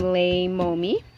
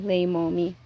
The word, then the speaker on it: Leimomi: So, and you can pronounce my name Leimomi. Hopefully you guys can hear me. Leimomi.